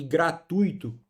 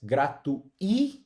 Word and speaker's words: gratuito: E gratuito, pessoal. Muito cuidado com essa palavra. Muita gente fala por aí, né? Inclusive celebridades, gratuito. E isso não existe na língua portuguesa, tá?